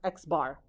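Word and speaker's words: x̄: the mean is this it's x with a bar on top and it's literally pronounced x bar okay so the mean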